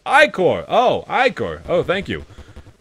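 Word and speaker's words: ichor: trle Charice I can fill it with magical eor that's pronounced ior oh ior oh thank you choose your iore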